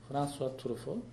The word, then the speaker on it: François Truffaut: François Truffaut, is it correct to pronunciation? Yeah. François Truffaut.